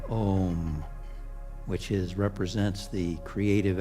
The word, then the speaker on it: om: And then I like to chant that ancient beautiful Sanskrit word pronounced om which is represents the creative activity of spirit in the world in the universe.